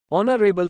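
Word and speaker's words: honourable: Underscore underscore underscore man ऑनरेबल silent H takes N 50 once in a blue moon very rarely बहुत ही कम होने वाली घटना।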